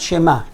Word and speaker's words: שמע: So I would say Shema and not Shema. Shema, it means maybe. Shema, you have to pronounce the ayin.